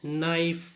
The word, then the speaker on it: knife: So the words knee, knife, knight, know, knock. So in these words k is silent.